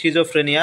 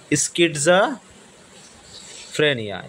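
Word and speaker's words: schizophrenia: ঠিক আছে আমরা যদি নরমাল উচ্চারণ করতে যাই সিজোফ্রেনিয়া বাট সঠিক উচ্চারণটা হবে স্কিটজা ফ্রেনিয়া স্কিটজাফ্রেনিয়া আচ্ছা স্কিটজাফ্রেনিয়ার এটার সঠিক বানানটা কি হবে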